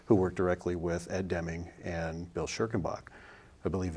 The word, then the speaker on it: Deming: know that's exactly how you say it but Deming of course is uh one of the Geniuses